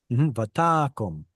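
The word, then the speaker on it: ותקם: You can see because of the cantillation mark that the stress goes here. That leaves you with a closed and unstressed syllable. So this is actually that pesky kamatz katan, and with the O sound.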